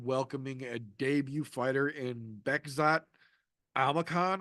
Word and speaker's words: Bekzat Almakhan: They're literally going to have him welcoming a debut fighter in Bekzat Almakhan, I believe is how he pronounces his name.